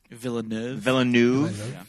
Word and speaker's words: Villeneuve: Did I pronounce that right? Villeneuve.